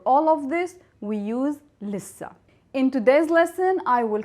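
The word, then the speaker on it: لسّه: In Lissa, we have to pronounce the sin 2 times, Lissa. So the sin is pronounced 2 times.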